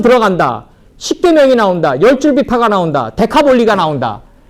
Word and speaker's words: 데카볼리: 데카는 10이고 볼리는 폴리스라고 그래가지고 폴리스라고 그래가지고 마을, 도시 뭐 이런 뜻이에요. 데카폴리. 그러면 왜 폴리스가 왜 비 발음 났냐고. 라틴어 때문에 그래요. 라틴어 때문에. 라틴어는 피 발음이 비읍 발음 나요. 그래서 볼리가 되는 거예요.